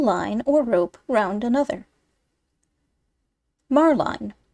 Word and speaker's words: marline: or rope round another marline pronounced Marlin small two- stranded stuff